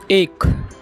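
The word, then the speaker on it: ache: इसको हम प्रोनाउंस करते हैं एक।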